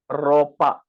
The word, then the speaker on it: ropa: begin with the word ropa okay the thing about R is any alphabet that starts with r you need to drag that r a little bit more first of all this